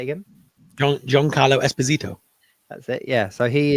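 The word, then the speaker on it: Giancarlo Esposito: New World no um midium I can never pronounce his right but the say again joh John Carlo Esposito that's it yeah so he is in a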